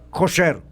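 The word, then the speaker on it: kosher: la comida ker kcr cuya pronunciación en judis es koser quiere decir correcto o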